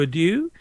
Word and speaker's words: adieu: Legion, I will bid you adieu. And I hope we have a great Well, actually, if you want to pronounce it properly, it's adieu.